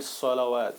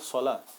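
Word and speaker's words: صلوة: So wow here basically is silent. So you will not read it salawat. You would read it salah.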